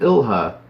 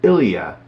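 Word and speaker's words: Ilja: I've been calling him Ilha. It is not. It is Ilya. The J is pronounced like an I. Ilya Dragunov.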